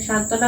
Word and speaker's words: সান্ত্বনা: হবে না তাহলে হবে সান্ত্বনা এখানে সান্ত্বনা কারণে ব দেয়া আছে কিন্তু বটা উচ্চারণ হচ্ছে না তো এখন দেখো ছয়